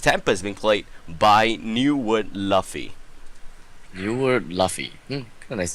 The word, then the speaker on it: Luffy: So it's pronounced as Luffy, by the way.